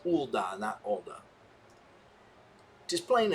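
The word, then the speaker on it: Ul'dah: the adventurer's guild except so it's pronounced ulda and that order just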